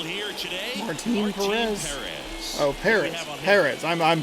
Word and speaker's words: Perez: Oh, Perez. Perez. I'm pronouncing that. I'm putting the emphasis in the wrong spot.